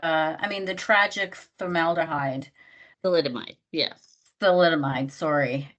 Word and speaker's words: thalidomide: So there the research that I was looking into is saying it was because of the thalidomide. Did I pronounce it right?